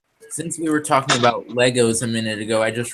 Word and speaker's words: Lego: And then I'm also used to saying Legos like you, but it's Lego.